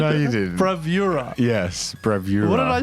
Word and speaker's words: Bravura: pronounce it so today we'll be talking about bravura no no what what what was it Brava oh that's what I said no you didn't bravura yes bravura what did I say bravura h i just I combine some letters togethera